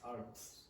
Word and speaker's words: arts: For her art, but for Now, because that's not clear, I'm not really sure if you're saying she's an icon because of her art, or arts, or her ass.